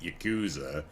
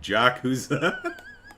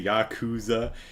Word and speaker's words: Yakuza: Uh, Chicago says they're probably only familiar with Jacuzzi, so they're calling it Jacuzza. Jacuzza. Hey, let's let's throw on some swim shorts and go relax in the jacuzza. Um, lyrically, see, I used to say Yakuza.